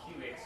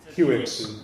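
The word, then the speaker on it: Kiwix: I'm actually currently working on packaging something called QX, which makes it easy. QX, was it K-I, how do you spell it?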